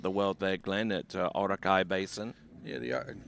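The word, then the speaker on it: Orakei: world there Glenn at Orakai Basin. Yeah, the you got to get pronunciation right there. T the Iraqi basin. Iraqi basin.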